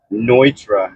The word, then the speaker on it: Neutra: That is a Richard Nitra house, but it's spelled like Neutra, like a neutra.